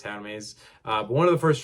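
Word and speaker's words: Hermès: I mean, one of the first tracks off of Hitler Wears Hermes 8 was, which I know it's not pronounced Hermes, I just pronounce it that way, it's Hermes.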